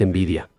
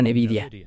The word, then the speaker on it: Nvidia: de esa empresa y la forma correcta de pronunciarlo es envidia. Pero muchos creen que esta billonaria empresa pionera de la inteligencia artificial se llama Nevidia, aunque tiene cierto sentido